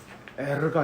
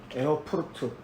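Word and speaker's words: Erfurt: 있습니다 그 다음 23페이지는 어디서 대학생을 했다고 나왔죠 에러가 아니라 에어프루트라고 합니다 독일어로는 에어 알 발음이이 알입니까 에어푸르트 에어포트에서 지금 생활을 합니다 그래서 정식으로 공부합니다 대학교를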